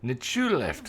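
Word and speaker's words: Nchuleft: Nichuleft, that's how you pronounce it.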